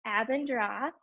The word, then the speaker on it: Abendroth: so first of all great job on the pronunciation I know it's a tough word it's a band drop it's German it means red evening it was